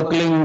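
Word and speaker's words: क्लीं: उस होता एक शब्द क्लीन शब्द क आधा ल में मिलावा बड़ी की मात्रा और बिंदी उसका उच्चारण होगा क्लिंग ग ग की ब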